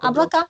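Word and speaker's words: облака: Donc, Oblaka, il est Ablaka au pluriel. Ablaka. Donc, c'est presque comme la pomme.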